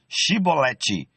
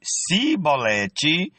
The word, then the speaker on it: chibolete: Os homens de Gileade lhe diziam: "Então diga chibolete". Se ele dizia cibolete, não podendo pronunciar corretamente a palavra, eles o agarravam e matavam nos valquele tempo, naquele tempo, perdão, foram mortos 42.000 efraimitas.